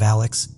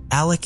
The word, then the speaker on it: Alec: covering it appears that he pronounces his name as Alec instead of Alex but I wasn't really